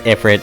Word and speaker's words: Ifrit: back anyway here's epit spelled iFit and pronounced as Ifrit throughout most of the final fantasy series all right so mandatory